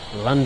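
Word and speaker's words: Llandaf: Well, we're pulling into the next station stop, which is Landaf. Let's get on those brakes. Oh, break. Okay, here we are at the next station stop. Lond. That's how you say it correctly.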